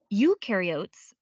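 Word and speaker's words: eukaryotes: Ukarotes the U rhymes with do.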